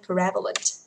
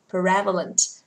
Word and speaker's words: prevalent: Một này, student, student, pupil, prevalent, prevalent, trọng thứ nhất các bạn ơi, prevalent, prevalent.